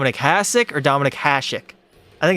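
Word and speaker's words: Hašek: There's an accent. It's pronounced Hasek.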